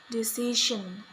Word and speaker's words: decision: The problem is that Indonesian learners often replace it by the sound sh, ga, and sa. For example, in the word decision. However, it is pronounced decision.